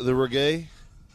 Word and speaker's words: reggae: You don't like the reggae? You know what? Reggae. That's how it's pronounced.